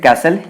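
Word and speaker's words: castle: Build कास्टल इन द air, build कैसल इन द air, build कैसल इन द air. Build कैसल इन द एयर का मतलब क्या होता है, पहले इसे अपन कास्टल पढ़ते थे, टी साइलेंट होता है एक्चुअली, मतलब हिंदी भाषी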